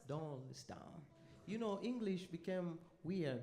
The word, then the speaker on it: Doylestown: What's the pronunciation? Doylestown.